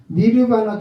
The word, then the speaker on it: 니르바나: 발음이 좀 이상하죠? 니르바라가 아니라 니르바나 종교 경험이고, 이렇게 은혜로 은총으로 이렇게 주신 종교 경험을 누미노제 종교 경험이다 이렇게 표현을 해요.